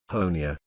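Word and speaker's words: Honea: do to be prepared honia said into the cameras his comments seemed to have the desired effect in his third year as Sheriff honia rhymes with Tony has become something of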